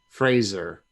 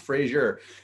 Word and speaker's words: Frazier: Fraser. No, it's pronounced Frazier, and everybody was on